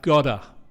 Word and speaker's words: got to: Again, the pronunciation is I've gotta.